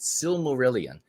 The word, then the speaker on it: Silmarillion: And this book, I believe it's pronounced Silmarillion, and the same friend of mine has got me started on this book now.